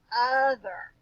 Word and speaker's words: other: Other. O is making a totally different sound, guys. It's making a short U sound.